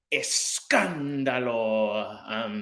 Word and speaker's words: Escándalo: I'm Lola, and then the last part is said with Escándalo. That's how you say it.